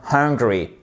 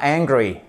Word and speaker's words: hungry: soif i am thirsty i am hungry OK et pas angry mettez bien le H sinon ça vous donne ce mot qui est en colère i angry je suis